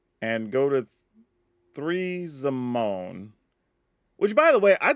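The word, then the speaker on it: Zimone: way I thought this was pronounced zime at first and maybe that's just my black side coming out I swear Zim just made more sense to me and then when R&D I heard them pronounce it actually as zamone I was like oh all right it's just zamone then that's why sometimes I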